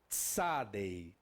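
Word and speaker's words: צדי: Essa aqui chama-se Tsadei. Tsadei. Tsa, tsa, tsa. Dá para ver o que é? Um T. Nesse caso, essa aqui terá o encontro biconsonante, com um encontro biconsonantal. Então nós teremos um TS, tá? TS.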